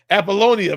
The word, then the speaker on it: Apollonia: Apollonia. Replace the I with a Y. Like baloney.